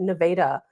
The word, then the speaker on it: Nevada: And you know, but now that you mention it, I know that somebody told me that Nevada is it they I think they pronounce it Nevada, Missouri was hit really hard with tornadoes also.